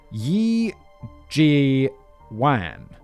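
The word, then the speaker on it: 叶继欢: In Mandarin, it'll be pronounced as Yi Ji Wan. Wan. Yi Ji Wan. Instead of Yip Kai Foon.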